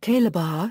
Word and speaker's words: Calabar: The neighboring town of Ataba took over the name and its Efik EfutAkampkpa indigenes became known as Calabar pronounced Calabah till this day.